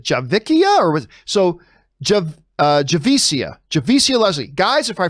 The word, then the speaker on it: Javicia: struggled with her name it's pronounced uh javisa javisia is that a javisia is that you pronounce her name uh javicia leslie keep up the good work come forth